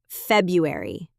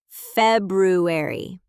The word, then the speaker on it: February: And February. February. Most people drop that first R.